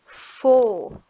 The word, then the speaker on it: foe: Foe, we can see the OE here pattern. E is silent, as we said. When we have two vowels, only the first one has a sound. The second one is silent.